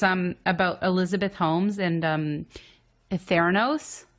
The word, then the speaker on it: Holmes: like Psychopaths well it's Holmes but it's like Holmes you don't pronounce the L how would you like